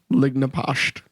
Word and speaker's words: Lignapasht: Lignapasht. Huh. Don't lick my pasta. It's that old school Irish. Yeah. That, why does this have 7 C's and H's and only 3 of them are pronounced?